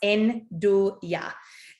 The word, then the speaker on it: nduja: of you to is using the ingredient in douya which is spelt n-d-u-j-a it's pronounced en do ya and it's a i think a calabrese like